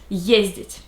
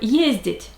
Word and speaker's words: ездить: And these are the forms for the verb ездить. Я езжу, ты ездишь, он, она, оно ездит, мы ездим, вы ездите, они ездят. The stress is always on the first syllable, and it's easy to